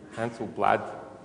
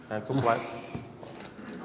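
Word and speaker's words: Handelsblad: uh this is the front page of NRC Hansel blad is my pronunciation correct no Hil blad a great great Dutch newspaper I hear um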